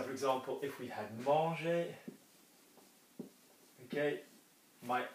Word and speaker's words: manger: So, words which end with an R often don't hear the R.